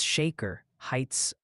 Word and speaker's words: Shaker Heights: Multiple people insist Natchitoches is pronounced Natchitoches, and please, for the love of weather, it's Shaker Heights, Ohio, like a salt shaker, not a shark attack.